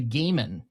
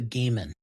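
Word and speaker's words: Goddard: This is the correct pronunciation. The gaan just so you in case you have to say that later, but the gaan correct.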